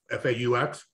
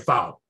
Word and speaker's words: faux: I used to pronounce faux, foul, F-A-U-X, the French word for almost and similar. Like it's a faux fur. Oh, faux, right. Yes. And I kept calling it foul fur, because it's spelled F-A-U-X. It looks like it should be foul.